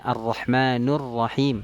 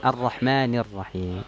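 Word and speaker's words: الرحمن الرحيم: Contoh misalnya kita membacanya ar-rahmanur rahim. Nah, ini kurang tepat, ini i'rab yang salah nih, harusnya kan ar-rahmanir rahim.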